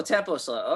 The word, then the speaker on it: Tempoh Slow: and I'm dyslexic, so how do you actually pronounce the whatever slow? Your band Tempoh Slow. Oh, Tempoh Slow.